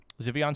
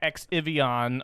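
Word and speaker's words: Xivion: Yep, Zivion Studios. That's how it's pronounced. Zivion, not X-I-V, not X-Ivion or anything. And it's not 14 Ion.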